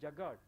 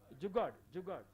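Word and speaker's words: jugaad: Now you may be knowing, as many youngsters are there, there is a word that is called Jagad. Yeah? Jugad. You know better pronunciation.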